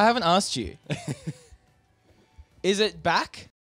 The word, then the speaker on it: Bach: Is it Bach? Bach. Yep. Bach. Ah, like the musician. Like the composer.